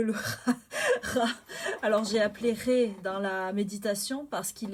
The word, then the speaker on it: Ra: Alors j'ai appelé Ré dans la méditation parce qu'il est appelé Ra, normalement, et est écrit Ra, mais c'est Ré qu'on prononce, donc c'est pour ça.